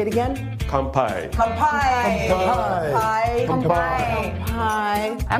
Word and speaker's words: kampai: Kanpai.